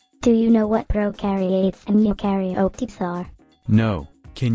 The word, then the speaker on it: prokaryotes: to know is that prokaryotes have no nucleus like pro rhymes with no no i think it